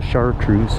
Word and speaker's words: chartreuse: just a fun color it's fun to say and it rhymes with moose how could you not want to go there the chartreuse moose they made really